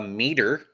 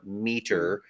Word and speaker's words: Meater: Katrina got me a meter oh for yeah, Christmas. saw So that. for those of the listeners who don't know what that is, it is spelled MEATER, meter.